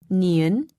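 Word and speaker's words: 니은: making the neon shape niun is also a nasal tone listen carefully when pronouncing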